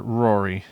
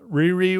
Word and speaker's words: Riri: Mike okay so uh Riri is actually rir how you pronounce her name is it's okay I'm not I'm not slamming you Mike you don't know it's uh Riri Williams she is known